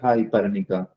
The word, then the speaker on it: Parnika: Hi, Parnika. Yeah. Am I pronouncing it correctly?